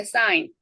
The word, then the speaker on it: sign: sign. fine. 징후 조짐 기색 흔적이죠. 이때는 그가 발음이 안 돼요.